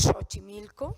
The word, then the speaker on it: Xochimilco: español como préstamos duros si muchísimas x se pronuncian como ya es Xochimilco por ejemplo y en algunos casos se puede